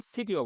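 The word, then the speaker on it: city: আমি সিটি বললাম, সিটিও বললাম। আমেরিকানরা বলবে সিটি, কি বলবে? সিটি। আর ব্রিটিশ কি বলবে? সিটি, সিটি, সিটি। এখানে ডি এর উচ্চারণ, এখানে টি এর উচ্চারণ দা উচ্চারণ হবে।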